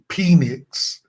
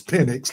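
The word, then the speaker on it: Penix: And he's uh giving that pronunciation for red because he likes to call them penics. It's pinnix like a pen.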